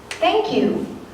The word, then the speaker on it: Thank you: 여기서는 thank you에서 th 발음, 번데기 발음이 나와요. 이 발음은 제가 누차 말씀드리지만 어려운 발음이 아니에요. 이 발음을 할 때는 윗니와 아랫니 사이의 혀가 잠깐 닿아 떨어지는 정도라고 생각하시면서 발음하시면 돼요. 다시 한번 읽어보면 Thank you, thank you, thank you.